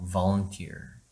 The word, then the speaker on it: volunteer: volunteer. 시작. volunteer. 강세가 어떻게 돼 있어요? 쳐 내려가 있죠. 그럼 얘는 volunteer이 아닌 volunteer이 되는 거죠. volunteer.